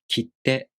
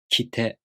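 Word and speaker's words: 切手: For example, the word kitte. If you don't pronounce the small tsu for a duration of one mora, it sounds like kite, kite, kitte, kitte.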